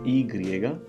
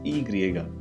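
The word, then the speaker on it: i griega: The next one is E griega, right? We saw the E Latina, which was I, and so this is E griega.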